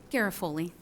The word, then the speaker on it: Garofoli: Garofoli, did I mispronounce that? Garofoli. I knew I was going to do that. Garofoli.